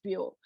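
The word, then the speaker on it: 母: recent study, is that the word for Chinese, for example, a mother, is pronounced, literary Hokkien is pronounced as bio, but then colloquial Hokkien is called bu.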